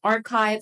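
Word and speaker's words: arXiv: The last suggestion is Archive Sanity. This is traditionally the more common database for researchers. Archive is spelled with an X, but apparently it's pronounced archive.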